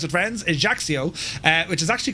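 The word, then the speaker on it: Ajaccio: Currently on the ground here at Haxio, that's how you pronounce it, friends. Ejaxio.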